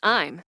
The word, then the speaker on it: Im: The character I'm, pronounced I'm, is someone.